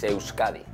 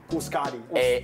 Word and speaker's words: Euskadi: In our language, it's Euskadi. Euskadi. Euskadi.